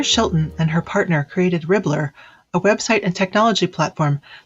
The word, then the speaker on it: Ribblr: Leah Shelton and her partner created Ribblr, a website and technology platform that combines a